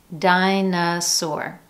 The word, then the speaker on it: dinosaur: Notice that each one contains a different vowel in the middle syllable, yet we're still using the schwa sound in each one of those.